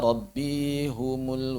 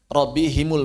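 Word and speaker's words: ربهم: Walaupun bisa dibaca rabbihum. Seperti alaihim boleh dibaca alaihum. Tapi kalau yang jumhur, kebanyakan orang-orang Arab zaman sekarang bacanya him. Him. Boleh dua-duanya. Coba kebanyakan orang Arab sekarang dibacanya hi.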